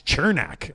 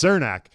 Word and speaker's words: Cernak: And I'm like, "No, no, no. I I know what his name is. It's Cernach." And I I guess I just never knew that that was the way the proper way to say your name.